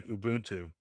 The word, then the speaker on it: Ubuntu: I say Ubuntu. The U says itself, Ubuntu, Ubuntu.